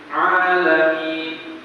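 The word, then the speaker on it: العالمين: yaitu pada saat membaca alamin bacanya alamin bukan a a a a a a a beda yang betul apa a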